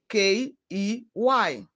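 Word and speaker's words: quay: q u a y the letters e y in k e y and u a y and q u a y are pronounced with the same sound e key key let us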